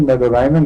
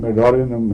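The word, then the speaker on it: Medorrhinum: हाँ, प्रोनाउंसिएशन की बात हो रही थी, नहीं, मेरे ख्याल में मेडोराइनम नहीं है, मेडोरिनम है, ये मेडोरिनम।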